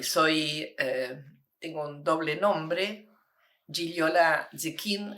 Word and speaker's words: Gigliola Zecchin: tengo un doble nombre gilola zin así se pronuncia en italiano yo he nacido en